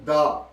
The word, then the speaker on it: the: कुलिया ये है कि द के बाद कोई भी लफ्ज लिखा हो अगर कोई भी नाउन लिखा हो तो नाउन का पहला स्पेलिंग अगर कंसोनेंट है तो फिर हम बोलेंगे इसे दा पढ़ेंगे अगर उस नाउन का पहला स्पेलिंग वड आता है ए एन ए ई आई ओ यू तो फिर हम इसको पढ़ेंगे द यह है द और दा